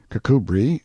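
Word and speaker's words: Kirkcudbright: Pronounced Cubri Flanover Marshbanks sellers Viccount Barkley of Chumley Castle, Warkshire.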